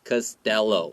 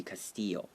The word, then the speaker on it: Costello: Costello，所以 Erin Costello。 And in Spanish, because two L's in Spanish make a Y sound, so it would be Castillo.